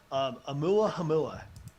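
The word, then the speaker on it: ʻOumuamua: able to spell it i'll be impressed if they're able to say it so it's amula hamilla is the name of that one which is hawaiian for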